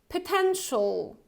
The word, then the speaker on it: potential: And you also have this schwa sound in the first syllable. So it's not potential. It's potential. Potential.